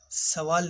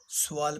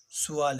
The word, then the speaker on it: سوال: جواب: مسلمان۔ جواب: مسلمان۔ سوال: دیکھیے، سوال نہیں پڑھیں گے بلکہ سوال پڑھیں گے۔ صحیح تلفظ سوال ہے، سوال غلط۔ مسلمانوں کے مذہب کا نام کیا ہے؟